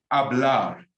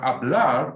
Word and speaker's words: hablar: Now, hablar means to speak. Remember, the H is silent.